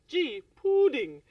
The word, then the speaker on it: pouding: That is spelled P for pudding, O-U-D-I-N-G, pudding.